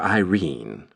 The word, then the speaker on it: Irene: "My daughter Irene," said Mrs. Carstyle, she made it rhyme with tureen, "has had no social advantages, but if Mr.